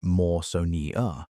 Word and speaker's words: Mawsonia: Cretaceous coelacanths in the Kem Kem, mostly belonging to the giant genus Mawsonia, pronounced Maw-so-nee-a, grew to around 16 ft long.